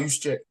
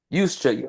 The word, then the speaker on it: Juszczyk: starts with a J, but you pronounce it with a Y.